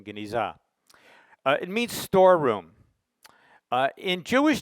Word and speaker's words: genizah: place now what is a ganesha or cebu pronunciation genizah it means storeroom in jewish tradition one cannot